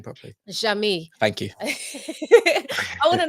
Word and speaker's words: Jeamie: Jeamie.